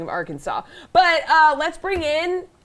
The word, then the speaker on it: Arkansas: really quick um that the spelling of arkansas is absolutely outrageous and infuriating there's it's spelling francis is in there the word kansas is in that so you can't just say that that's pronounced arkansas you know what like